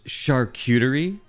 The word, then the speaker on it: charcuterie: I'm waiting it's no it's called a charcuterie board excuse me it's actually pronounce charcuterie one of the look